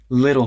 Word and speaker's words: little: took out the garbage little things like that little the T in little always turns into a tap Little Things little things